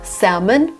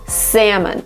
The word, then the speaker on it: salmon: Yes, a lot of people pronounce it as salmon. Salmon bread served with salmon butter. Salmon with an L. But it's basically British. So if you come to Great Britain, it's salmon. In America, it's salmon.